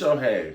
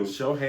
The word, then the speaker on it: Shohei: It is Shohei. Okay. We gonna go with you. Shohei. Because I always just call him Otani. That's all I go by. I never. That first name is Fierce, darling. Shohei.